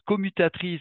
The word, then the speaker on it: CoopMutActrice: Et qu'on prononce commutatrice parce que ça produit de l'alternative, même si c'est coop, mute et actrice.